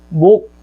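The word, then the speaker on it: 몫: 있지만 하나의 사례를 살펴보면 예를 들어 목 이렇게 얘기했을 때 목 이렇게 얘기했을 때 발음상으로 목 이렇게 발음이 된다는 거죠. 그러니까 받침이 기역 시옷이었는데 보시면 받침이 기역 시옷이었는데 목 해가지고 기역만 남은 거죠.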